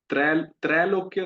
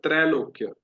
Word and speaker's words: त्रैलोक्य: त्रैलोक्य नहीं, वो ए कोई साउंड नहीं है, मतलब ए कोई साउंड नहीं होता, त्रैलोक्य।